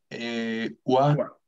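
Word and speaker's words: は: Por ejemplo, konnichiwa termina en ja, que se pronuncia wa, pero en el silabario de hiragana, el wa tiene otra forma.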